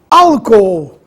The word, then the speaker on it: álcool: caso contrário ficaria iamos álcool essa divisão silábica é interessante alcool a sílaba tônica é a primeira no caso a antepenúltima sílaba tônica au agudo no a alcoômetro Olha a divisão